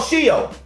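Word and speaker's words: Sheol: There was a word called shio.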